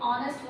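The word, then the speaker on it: honest: ठीक है, यहाँ पे ऑनेस्ट, जब हम ऑनेस्ट वर्ड बोल रहे हैं, एच is silent, this word is not producing the sound of एच, इट is producing the sound of vowel O.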